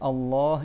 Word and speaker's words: Allah: Si tu veux dire le nom de Allah, faut que tu dises Allah. Il y a deux L et tu prolonges le A et après il y a un ha à la fin.